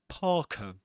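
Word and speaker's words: parka: Again the the letter R is not pronounced because right after it comes a consonant sound.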